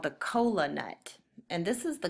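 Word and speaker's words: kola: a nut called the cola nut and this is the cola nut Cola is spelled k o l a and it sounds a lot like our word Cola that we use for drinks the cola nut has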